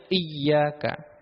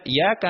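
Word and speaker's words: إِيَّاكَ: ini tidak sah juga harus memperhatikan tasdid yang ada di al-fatihah membaca i iaka nabudu iyaka ya di sini ada tasydidnya iyaka tidak boleh dibaca iyaka na'budu iyaka nastain tanpa menyebutkan tasydid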